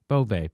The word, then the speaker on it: Boeve: It looks like Boeve, right? Or Bove? Yeah. Bove. Bove, yeah.